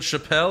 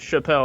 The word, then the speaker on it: Chappelle: This is Chappelle. Is that how you pronounce it? Yes, y'all pronounced it right. It's not Chapel.